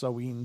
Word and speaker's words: Samhain: a parathon but it's uh it's a celebration samhain celebration or actually pronounced seween but anyway it's a celebration of sorts so